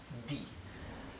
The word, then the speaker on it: die: Más adelante veremos clases de fonética, pero la sílaba IE en alemán se pronuncia I, ¿bien? La E es muda ahí, en esa sílaba, die.